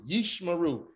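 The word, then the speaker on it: ישמרו: closed this syllable yeesh instead of saying you share you sure you're trying to figure that out you realize that not it's more comfortable and easier yeesh yeesh maru yishmaru not ishmael because again this is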